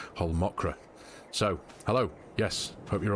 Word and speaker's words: Holmakra: of the Survival Series so obviously I've just pronounced whole mokra correctly this time sincerest apologies to my Scandinavian